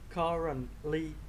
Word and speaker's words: currently: He currently Currently, em đọc là currently. Âm T em giữ lại cũng được, không cần phải đọc T đâu.